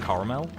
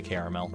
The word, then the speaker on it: caramel: do have like a like a kind of a ghost of an a in the middle there a lot of the time when I say it I say like caramel you hear that there's like a little ghost a it's like two and a half syllables I think that's that's where I land on that one but I feel like